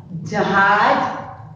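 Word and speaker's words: जहाज़: देखो, हमने ज पर क्या किया? थोड़ा सा जोर डाला, और उसके शुद्ध बोलने के लिए हम इसका उच्चारण शुद्ध कर सकते हैं, इसीलिए हम उसके नीचे नुक्ता लगाते हैं।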